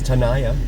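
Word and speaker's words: Tenaya: This is Tanaya here, right here. That's the way I've always heard it pronounced, but it's spelled T E N A Y A.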